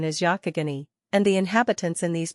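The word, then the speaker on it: Youghiogheny: Wink with a frown nine but the common pronunciation is Yakagani and the inhabitants in these parts call it the Yak River.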